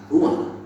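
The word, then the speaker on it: רוּחַ: Kata dalam bahasa Ibrani-nya adalah ruah. Ruah? Ya, benar. Tenggorokan kita harus benar-benar bersih di akhir pengucapan. Jadi apa itu?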